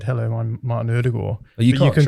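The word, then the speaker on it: Ødegaard: you're actually like norwegian so i would say erdegaard but that's wrong erdogan you sort of soften the d you soften the d there maybe there may be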